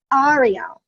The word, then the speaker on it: Arielle: So I think what I'm hearing you say, Arielle, is that it's Arielle. I want to make sure I'm saying it right. Arielle. Got to say it like that.